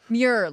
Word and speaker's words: Muir: Muir. Like demure.